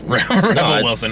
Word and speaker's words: Rebel Wilson: I said that just to piss you off Rebel Wilson I if you want to pronounce Rebel spelled clearly Rebel Reba like Reba